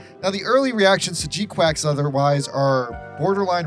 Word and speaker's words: G-Quuuuuux: next big update on G quacks which I'm going to be trying my hardest to call G quacks here because the title has basically been confirmed as you say it like quacks I'm going to maybe